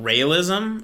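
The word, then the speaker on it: Raëlism: It's called, if I pronounce it correctly, realism. Not realism, but realism. R-A-E with 2 dots, L-I-S-M. Realism?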